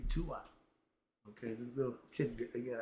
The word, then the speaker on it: Duat: So yeah, I laugh because I hear people pronounce it. It should be Tuat.